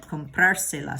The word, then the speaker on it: comprárselas: Juan tiene que comprárselas. Okay, so what's missing over here? If you guessed, it's the accent because we're adding those two syllables at the end. You're right, comprárselas.